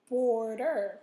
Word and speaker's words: border: the second syllable okay border when you scoop o is in the first syllable so you're going to put your accent there here comes a c okay